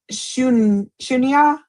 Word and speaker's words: Shunya: Do you teach any form of shunya? I'm not sure if I'm saying that right. I'm probably not. Sushunya? Shunya. Shun. It's spelled Shoonya. I'm sure Shunya.